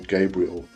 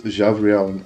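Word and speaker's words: Gavriel: say Archangel Gabriel, and I don't say Archangel Michael. So I have to really forcefully remember how to say that. It's Javriel and Michael, and that's how I was taught to pronounce them, and this becomes very important to me.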